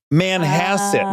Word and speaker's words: Manhasset: Manhasset. Manhasset. Well, when you pronounce it, I now realize it sounds like a bunk version of Manhattan.